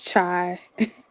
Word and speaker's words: Chai: you going for like how do you pronounce it oh it's chai oh okay we like